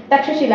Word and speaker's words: तक्षशिला: कहते हैं, ठीक है, जो कि करप्टेड वर्ड है। मतलब कहने का सेंस ये कि लोगों ने तक्षशिला को, जो कि तक्षशिला है जिसको करेक्ट वर्ड जो है, करेक्ट प्रोनाउंसिएशन ये है, ठीक है, जिसको लोगों ने तक्षशिला कह दिया है, ठीक है।